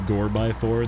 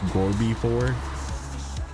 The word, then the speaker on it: Gorby: Did you know that the Gore-by-4 that we call the Gore-by-4 because we're Americans, most of us Americans at least, is actually pronounced Gorby-4? Like it is an actual real truck and it's called the Gorby-4 and it's because of Gorbachev.